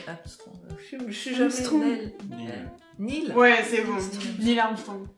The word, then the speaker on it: Neil: Nels Ah. Armstrong. ». Oui, Alors la prononciation... réessayez de la prononciation. Armstrong. Je suis jamais Armstrong. Neil.